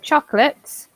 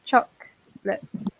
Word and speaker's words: chocolate: english so for example chocolates we write with an o but we pronounce chocolate chocolate um restaurant so often